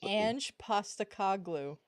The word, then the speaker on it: Ange Postecoglou: It's Ange Postacoglu.